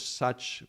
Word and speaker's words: Sach: put a U because Sach produce like the way to pronounce it the best is similar to how in English we would use the U.